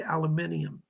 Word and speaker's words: aluminium: But the modern day metal for Aquarius is aluminum, or as the British say, aluminium.